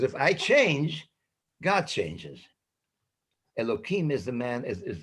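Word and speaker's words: אלוקים: hashem loki remember elohim is spelled youth but pronounced elokim so moshe albania uses the same terminology he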